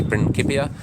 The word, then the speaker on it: Principia Mathematica: So the book is titled Principia Mathematica, or the original Latin pronunciation might be Principia, but I prefer the anglicized pronunciation, so Principia Mathematica.